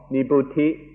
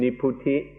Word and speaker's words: nibbuti: The first kind of coolness is called nibbuti, or in the Thai pronunciation, niputi.